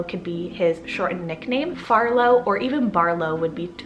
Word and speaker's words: Farlow: First, I have the name Farlow, so spelled F-A-R-L-O-W. I think it's super cute and so sweet because it has that Arlo in it, which is one of my favorite four-letter boy names.